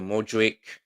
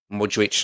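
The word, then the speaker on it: Modrić: Luka Modri Modric I should say. Let me pronounce it right.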